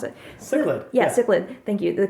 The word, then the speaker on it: cichlid: of CH C I don't know how to pronounce it cichlid yeah cichlid thank you the kind of cichlids